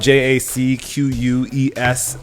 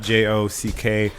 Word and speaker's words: Jacques: It's spelled Jacques, by the way, not Jock.